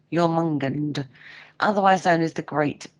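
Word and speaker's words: Jörmungandr: a quickie before we break um jumungand is pronounced you're mon gand your mungand otherwise known as the great beast it's also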